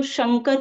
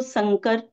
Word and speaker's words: शंकर: की जो बोलियां हैं, उन बोलियों में श शक्कर का जो श है, उनका लगभग अभाव मिलता है। जब वो आते हैं तो शंकर को संकर इस तरीके का उच्चारण करते हैं।